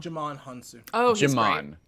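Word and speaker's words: Djimon Hounsou: butchering this pronunciation but jimon honsoo jamaan hansou that's how you say that okay great um he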